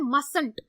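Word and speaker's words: mustn't: मस्त इसको पढ़ने हैं मसलत टी साइलेंट हो जाता है ठीक है इसको आपने याद रखना है इसको पढ़ा जाएगा तो टी साइलेंट होगा लेकिन आपने बोलने में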